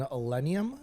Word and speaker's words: Illenium: this past weekend and Illenium, is that how you pronounce it?